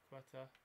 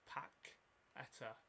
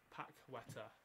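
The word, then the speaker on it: Paquetá: Quetta. Actually, it's Paqueta. Watched the AC Milan game the other night. When they lost to Spal, I think. Paqueta. Oh. Yeah, and it's pronounced Paqueta.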